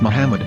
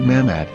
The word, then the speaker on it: מחמד: According to Ben Yehudah's Hebrew-English dictionary, it is correctly pronounced as Muhammad, not Mamad.